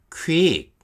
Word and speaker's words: Qwik: 발음 한번 해보실래요? 퀵. 네, 퀵이라고 합니다.